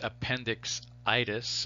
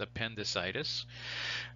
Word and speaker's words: appendicitis: what do you call it if you guessed appendix itis appendixitis you would be correct except that that's it's usually pronounced appendicitis right so itis uh itis if if you